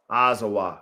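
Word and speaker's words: Azawakh: Azawa. So the K is uh silent.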